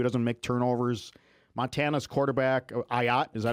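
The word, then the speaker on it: Ah Yat: Ayat. Is that how you pronounce it? Ayat.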